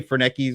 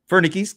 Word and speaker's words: Fernickis: Remember I used to say Fernkis or something. Yeah. I I've known this dude for like 20 years and I said his name wrong for 18 of those years or something like that.